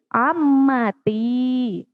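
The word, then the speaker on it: عمتي: Jika ammi untuk pamanku, maka perempuan bibiku, maka ditambahkan tak di belakangnya menjadi ammati.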